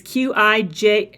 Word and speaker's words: Qigong: It's Qigong.